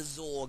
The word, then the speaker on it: XOR: to call it the zor gate because X or can be pronounced because x o r can be pronounced as zor at least in my opinion it can so I